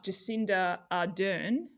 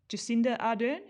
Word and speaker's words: Jacinda Ardern: before we shut this one down apparently uh jacinda ardern am i pronouncing that right jacinda jacinda ardern is that right um new zealand new zealand's